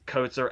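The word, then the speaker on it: Kotsur: reminder in my notes it's coats or as in may i take your coat sir but the thing is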